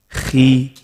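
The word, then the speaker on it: خِ: So this is how you say it. Khi. Khi. Sometimes you hear people say khi. No. Khi.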